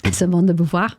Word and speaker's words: Simone de Beauvoir: Simone de Beauvoir.